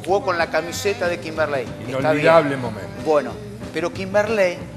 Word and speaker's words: Kimberley: No Kimberley, Kimberley. Sí, Kimberley. Bien. Usted me va a decir... con acento en el ley.